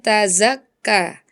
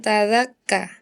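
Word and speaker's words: تَزَكَّىٰ: Yang pertama adalah kesalahan pengucapan; Huruf Zai dua kali salah dibaca sebagai huruf Dza. Dza. Misalnya dalam surat An-Nazi'at ayat 18. Ila an tazakka. Saya mendengar Anda mengatakan ila an tadzakka, itu terjadi dua kali.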